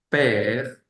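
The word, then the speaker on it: père: e aang grab r e m así como per Sería padre per P E acc grave r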